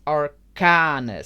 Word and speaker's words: Arcanus: I created arcanus arcanus do not pronounce yeah I I get the jokes it's like Uranus okay it it's aranas so chop that down